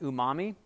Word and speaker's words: umami: The last one that's here is actually pronounced umami.